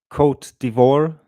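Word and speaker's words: Côte d'Ivoire: So the countries that you would find voting for this amend resolution, Costa Rica, Chile, Kot Divor, which is the Ivory Coast. I just learned how to pronounce that an hour ago.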